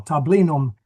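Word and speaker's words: tablinum: I I didn't know how to pronounce there's a slight Yeah, there's a few letters you left out there. I'm I'm reading it English style, too. Yeah. Yeah. No. Tabinum.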